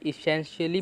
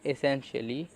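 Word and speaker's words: essentially: भी बोलते हैं, और कुछ लोग इसे ए भी प्रोनाउंस करते हैं, एसेंशियली। तो इसे हम ए बोलेंगे क्योंकि ज़्यादातर लोग ए ही बोलते हैं, एसेंशियली।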